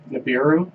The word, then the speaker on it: Nibiru: late September supposedly there's a planet called honey pronounce it Nibiru Nibiru is supposed to show up always it